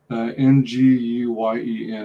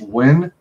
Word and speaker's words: Nguyen: N-G-U-Y-E-N. I think it's pronounced Wen or Nguyen.